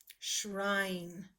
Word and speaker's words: shrine: up lens sure I I hear a long I sound sure I hmm so that means there needs to be an e on the end because this e on the end will be quiet and jump over give